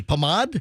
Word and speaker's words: pomade: How do you say Pomade?